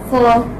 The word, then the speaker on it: four: Four. Four. Okay. Although you have this is ra here, but this is not pronounced.